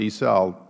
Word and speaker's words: Issa: so uh and since my name is normally pronounced e-cell interrupt at this moment